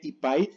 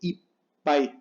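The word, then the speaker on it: いっぱい: son algunos ejemplos, y se pronuncia con una pausa, o sea, hay que hacer el doble sonido. Por ejemplo, tenemos aquí esta palabra que no se lee ipai, sino se lee ipai.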